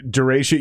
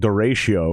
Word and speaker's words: Derechö: how we pronounce it i think the term i think like the actual storm is called duratio yep i think you're absolutely right i like calling it dare show dara show yeah i like the show